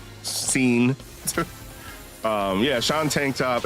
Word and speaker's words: Sean: And the Sean is spelled like S-E-A-E, S-E-A-N, scene.